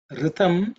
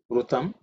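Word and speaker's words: ऋतम्: The next mantra is Ritam Chame. Ritam Chame. Ritam Chame. Pronunciation should be reasonably simple. Just pay attention to the word R. It's not Ru, Rutam, no Ritam. It's Ritam.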